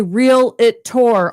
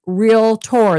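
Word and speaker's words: Realtor: Because if you want to go that far, people say real it to all the time. And it's real tour.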